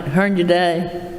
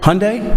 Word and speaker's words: Hyundai: how your day and did I pronounce it right Hearn today Hyundai Hyundai okay well that's okay I